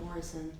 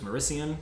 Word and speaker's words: Maurician: do you pronounce it it's not Morrison no it's well there's two so there's maurician which is the southern one and then the um